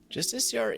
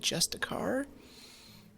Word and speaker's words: Justiciar: Justiciar is fun to say. It's particularly fun to say once I learned how to say it correctly and I stopped calling it Justicar.